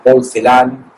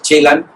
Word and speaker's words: Celan: había oído su nombre lo pronunciaba mal porque decía porcelán y en realidad es chelan Eh me ha sorprendido